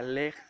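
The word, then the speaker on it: לך: Lo que le estaba diciendo en una palabra cuando le dice vete, la palabra vete, quiere decir, en hebreo se pronuncia lej, leja.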